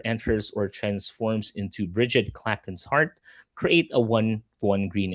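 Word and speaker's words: Clachan: Yes, it's pronounced Klaken. Klaken's Heart. Yes.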